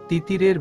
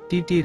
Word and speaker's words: তিতির: I call you তিতির তিতিরের বিষম লেগে যায় তিতির বলে তিটির না তিতির ইংলিশে টি হলেও বাংলাতে তো উচ্চারণ হয় লিরামিষ্টি হেসে বলে সরি